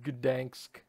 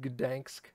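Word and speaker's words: Gdańsk: Let's go to Gdansk. That's how that's pronounced, right? Gdansk.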